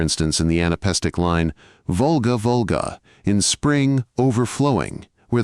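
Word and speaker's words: Волга: cramming into the depressions two-syllable words normally accented not on the first syllable, as Volga, but on the second, and doing it thrice in one line.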